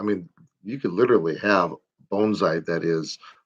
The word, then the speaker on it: bonsai: Bonsai, as it's properly pronounced, because I'm such a linguist.